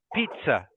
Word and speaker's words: pizza: G just cough yes this word um is two syllables and the first syllable is pit and the second syllable is z so it's pizza pizza so another word